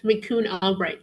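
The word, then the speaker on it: McCune-Albright: Can you pronunciate one more time how it's I I don't know if I mispronunciate it. Sure. Um, it's Mikun Albbright syndrome, right?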